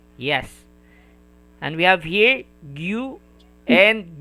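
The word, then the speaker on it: ぎゅ: And a small ya, it will be pronounced as gya, gya. Yeah. Yes. And we have here gyu and gyo, gyu and gyo.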